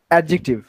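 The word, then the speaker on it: adjective: স্যার ইংলিশে পড়ছেন না এটার উচ্চারণটা কি বলেন তো এডজেক্টিভ ডি উচ্চারণ হয় না তাইতো এডজেক্টিভ এডজেক্টিভ হইছে ইনডেফিনিট এটা একটা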